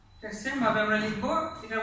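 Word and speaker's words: シャ: তাহলে এটা লাগালে আমাদের উচ্চারণ হওয়ার কথা হচ্ছে শিয়া, কিন্তু উচ্চারণটা শিয়া হবে না, উচ্চারণটা হবে মূলত সা।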